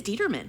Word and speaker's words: Dieterman: So is it Dieterman or Detterman? It is Dieterman.